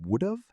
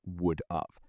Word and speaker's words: would've: And mistake number 4, this one's a speaking mistake, is mispronouncing would've as would-of. People write it wrong too.